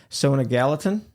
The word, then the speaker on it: Sona Gallatin: Uh, have another special guest today, Sona Gallatin. Hi, John. Am I pronouncing that right?